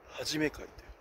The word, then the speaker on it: 一会: 山口組直系はじめ会という、1、2 回と書いて、はじめ会、山口組